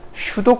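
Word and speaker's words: pseudo: 그래서 우리가 보통 슈도 코드를 이용하는데, 이거 묵음이에요. 피자.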